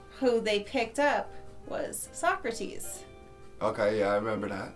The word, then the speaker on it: Socrates: But yeah, they kept on calling him Socrates because they couldn't pronounce it. Socrates. But it was Socrates.